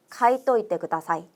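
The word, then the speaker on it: 書いといてください: 테랑오를 토라는 발음으로 바꿔서 가이또이때그다사이라고 해 주면 된다는 거죠. 카이때오이때그다사이 카이또이때그다사이 기억해 주시면 좋겠습니다.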